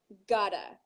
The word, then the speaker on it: gotta: Okay, so make sure you say it sounds like you have 2 syllables. I gotta. I gotta, right?